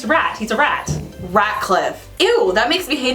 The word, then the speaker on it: Ratcliffe: was looking up villains, I don't like Radcliffe, but his name is spelled Ratcliffe, like with a T, and I always thought it was with a D. It's a rat. He's a rat. Ratcliffe.